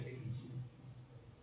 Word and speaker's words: Gerizim: Y había también otro problema mayor, que significaba el monte Garizim, que se pronuncia Gerizim.